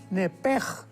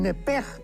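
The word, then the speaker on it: נֶפֶשׁ: porque es la palabra nepesh con sh al final. Neph. En el hebreo se pronuncia eh la sh con j. Entonces, la pronunciación hebrea es nepej. Al salirse el nepej, el alma.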